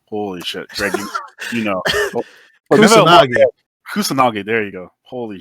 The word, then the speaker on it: Kusanagi: past weekend, and I felt your pain when Kasanugi jumped. Kasanugi, oh my god, I can't pronounce his name at the moment. But Kasanugi, oh my god, holy shit, Greg, you know, Kusanagi.